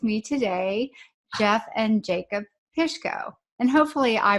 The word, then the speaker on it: Pishko: I have with me today Jeff and Jacob Pishko and hopefully I pronounced that correctly right that's perfect anyway you